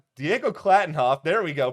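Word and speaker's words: Klattenhoff: okay other good news about this episode Diego class Diego clattenhoff there we go pronunciation is clearly my strong suit directorial debut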